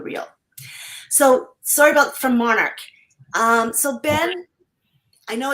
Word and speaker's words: MNRK: pronounce mnrk is uh Monarch okay yeah it's based on the monarch butterfly nice which actually goes